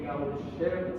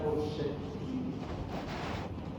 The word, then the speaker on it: Gaucher: Otras causas son las enfermedades por depósito, y ahí tenemos a la enfermedad de Gaucher, se escribe pero se pronuncia enfermedad de Gaucher.